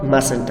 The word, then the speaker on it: mustn't: حالت کوتاهی must not mustn't است right که در این t silent تلفظ میشه.